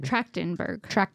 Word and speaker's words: Trachtenberg: Trachtenberg.